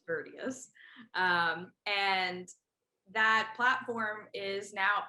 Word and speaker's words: Virtius: Some people might pronounce it as Virtuous, but it's Virtius.